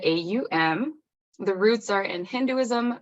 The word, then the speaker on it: Om: in the wellness world is pronounced kind of the AUM the roots are in